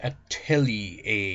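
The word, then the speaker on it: atelier: a A or okay it was pronounced at Telly a you got to remember it's like a at the end so filling every corner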